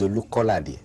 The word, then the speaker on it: Olukolade: What is the correct pronunciation of it? I've heard you called Olukolade. I've heard you called Olukolade. My name is Olukolade.